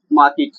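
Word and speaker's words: market: अब कहाँ पे बाजार में, तो इन द मार्केट, इन द मार्केट। इसका जो प्रोनाउंसिएशन होता है मार्केट नहीं होता दोस्तों, मार्केट, वी आर इन द मार्केट, ठीक है।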